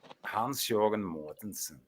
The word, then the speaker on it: Hans-Jørgen Mortensen: Hans-Jørgen Mortensen. That's how you pronounce that.